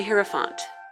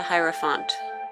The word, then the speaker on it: Hierophant: for you and I got the hero font the Hierophant depends on how you pronounce it what you prefer anyways this is a